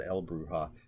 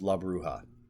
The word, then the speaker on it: la bruja: and then la bruja i think i said el bruha but it's la bruha my pronunciation is horrible